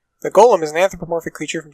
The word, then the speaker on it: G-OLM: He asked for it to be referred to by the last bit, which is, of course, Golem. Which should surprise us as it being pronounced like Golem anyway.